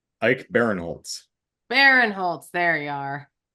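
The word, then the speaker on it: Ike Barinholtz: think Ike is Ike oh it's Ike not Ian Ike Baron Holtz Baron Holtz there you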